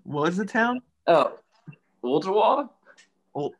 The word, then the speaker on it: Ooltewah: It's Ooltewah to, if you're just saying it real fast in a southern accent, it's Ooltewah. But it's Ooltewah.